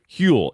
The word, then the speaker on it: Huel: want to talk to you about today's sponsor hule it is spelled huel the global complete nutritional brand trusted